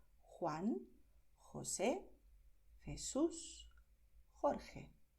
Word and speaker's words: Jorge: Juan, José, Jesús, Jorge. ¿Vale? ¿Ves aquí? Yo he forzado la garganta, pero también puedes pronunciar con suavidad. Juan, José, Jesús, Jorge.